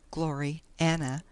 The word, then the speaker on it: Gloriana: Gloriana, pronounced as two words, Glory Anna, being the work of